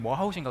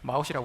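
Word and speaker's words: Mahout: 네, 이거 원래 발음이 머하웃인가 그렇던데 저는 그냥 편하게 마웃이라고 할게요.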